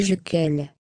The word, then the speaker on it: Jequil: Cet homme s'appelait Jean-Pierre Jequil, prononcé Jequel.